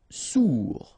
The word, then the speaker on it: sourd: Sourd, final day not pronounced, O-U together, ou sourd. Ferme, okay, final not pronounced, ferme.